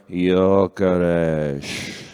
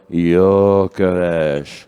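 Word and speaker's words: Gyökeres: Found his father saying how it's pronounced. Victor Yaresh. Victor. Victor Yaresh.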